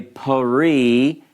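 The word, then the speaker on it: פְּרִי: But again, it's sort of a hurried sound. You don't say pari. You would spell it almost, if you're transliterating, like this. Pari. You can hear it, but it's very short, it's quick, it's abbreviated.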